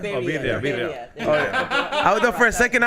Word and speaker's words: birria: what did you say, Barra tacos? Like the birria? birria.